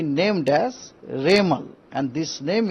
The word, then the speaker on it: रेमल: उनको नाम होगा रेमल रेमल प्रोनाउंस होगा रेमल उसका स्पेलिंग है आर ई एम ए एल रेमल यह नाम एक्चुअली